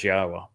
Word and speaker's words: Yahowah: pronounce Yahwa's name but to prove that the pronunciation of his name as Yahwa is accurate and reintroduce you to your God.